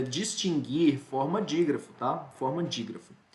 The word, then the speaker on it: distinguir: do índia nossa mantém distinguir mas eu sempre pronunciei distinguir pessoal que que acontece não não não tá a pronúncia não é distinguir é distinguir é distinguir a